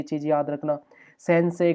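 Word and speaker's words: 先生: भी बताया था कि कभी भी ना ए साउंड के बाद जब भी ई आता है, हमने ओल्ड वीडियोस में कई बार एक्सप्लेन किया है, तो हम ई को साइलेंट कर देते हैं। तो जैसे सेन से ही नहीं बोलेंगे, सेन से, गाक से ही नहीं बोलेंगे, गाक से, इस तरह से।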